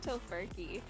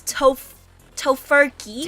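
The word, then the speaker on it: Tofurky: I like tofurkey.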